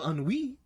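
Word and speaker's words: ennui: now is on WE it is spelled e n n i u i because of course it's French of course because that's clearly how you spell unwee so put on we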